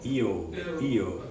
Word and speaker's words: eo: I'm quickly saying E and O. Eo, eo.